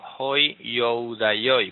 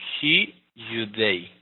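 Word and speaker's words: οἱ Ἰουδαῖοι: La palabra hi-yudei, como se lee en griego, algunos leerán hoi youdaioi, pues así no es lo correcto leerlo. Hay que ir directo a la pronunciación. Esto se lee hi-yudei, hi-yudei.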